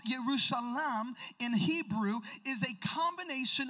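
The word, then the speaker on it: ירושלים: beautiful a beautiful city now the name jerusalem pronounced yerushalam in hebrew is a combination of two words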